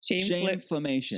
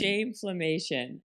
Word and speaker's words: Shameflammation: I have it written down as shameflation, but how do you say it? Shameflammation. Shameflammation.